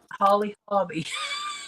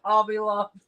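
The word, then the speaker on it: Holly Hobbie: Holly Hobby. I was always want to say Hobby Lobby.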